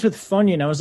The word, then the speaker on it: Funyun: yeah it rhymes with funyun i was like why didn't you say it rhymes with onion yeah funyun is a